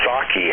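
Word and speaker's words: Psaki: jen saki it's sake huh the p is silent why even have it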